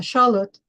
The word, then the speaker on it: Xolotl: people say axolotl, which is not how you pronounce it, is a Xolotl. And the deity is called Xolotl.